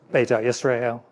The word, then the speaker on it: Beta Israel: How do you pronounce B Israel? Beta Israel.